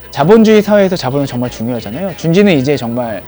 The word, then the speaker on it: JUUN.J: 스펠링 보면 아시겠지만 그 브랜드를 처음 읽을 때 준지라고 읽기는 쉽지 않죠. 준제이?